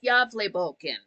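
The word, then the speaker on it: Gävlebocken: It's not pronounced the same way it's spelled because it's Swedish.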